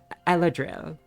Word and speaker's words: Eladril: Elhedrel? Elhedrel. I'm twisting my tongue saying this. Eladril. Yeah, okay, I'm just not gonna pronounce the H.